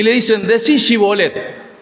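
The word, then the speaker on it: shibboleth: y le dicen decí shibolet y lo de la otra tribu decían zolet sonaban no podía decir shibolet decía cibet y con esta palabra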